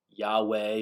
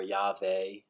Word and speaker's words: Yahweh: of God, which is, sometimes pronounced Yahweh or Yahweh. It's also where we get the word Jehovah, but there's no J sound in Hebrew, so that's not accurate.